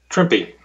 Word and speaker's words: Trimpe: on Herb's last name trippy that's what I thought that's the way I've always said it going back 40 years but you know well as he said it rhymes with shrimpy maybe I'll ask you